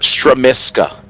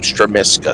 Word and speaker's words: Stramska: a number of years Cody Robert stramska is what I'm being told is how you say his name stramska so there's the pronunciation